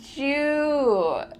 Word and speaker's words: do you: Why does the first two words sound like Jew? Do you becomes Jew, kind of a j sound, Jew.